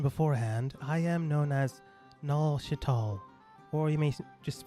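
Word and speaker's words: Nual: refer to me as Null. Is it with a N-A-U-L or is it N-U-A-L? N-U-A-L. Okay. It doesn't matter. It's supposed to be pronounced like null, like nullification.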